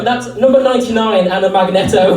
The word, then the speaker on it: Magneto: No, that's number 99 and a Magneto. I never know whether to pronounce it Magneto or Magneto. It's Magneto.